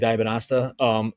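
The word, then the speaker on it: Dybantsa: And Dibanasta, I always say his name wrong. AJ Dibanasta.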